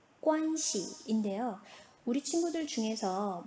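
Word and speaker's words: 关系: 오늘의 마지막 단어 관계입니다. 관계의 발음 관시인데요.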